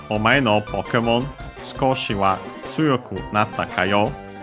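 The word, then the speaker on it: 少し: Skoshi, a little. Accent on the ko. The u of is barely heard if at all because it's between upper's consonants.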